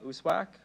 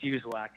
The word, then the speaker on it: Yuzwack: uh, Uswack. Uh, Dr. Usuzw, can you hear me? Absolutely. Can you hear me? Yeah, I can hear you. Uh, am I pronouncing your last name correctly? Close enough. It's Yuzwack.